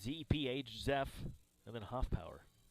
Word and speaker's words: Zeph: It's Z-E-P-H, Zeph, and then Hoffpower. Not spelled like it sounds.